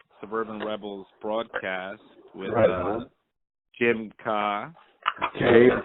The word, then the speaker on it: Kaa: Rebels broadcast with James Kaa. Okay, that's how it's pronounced. Is that right? Yeah. See, learn something every day. It's common that people think it's Kaa, but it's K.